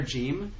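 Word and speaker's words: جيم: the actual letters but the letter gim is a good example it would be pronounced with like a j sound in the leontine area like Lebanon Palestine Syria these places and then it would be like a g sound G sound in Egypt a little bit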